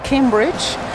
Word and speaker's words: Cambridge: En inglés se pronuncia Cambridge.